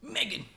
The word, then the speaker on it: Meghan: It's crazy that her name is Meg Han. You know what I mean? Yeah, That's Meghan. how you pronounce it. McCon. Meg Han. Megan.